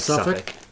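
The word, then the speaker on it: Suffolk: I think it's just pronounced like SuffK. Like Suffach. Suffach County.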